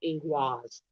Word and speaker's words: Ingwaz: And I did pronounce it wrong. It's ingwaz.